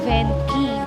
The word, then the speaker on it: Venchi: po yung first branch dito sa ano pong pronunciation p ah venky so venky chocolate siya from italy meron din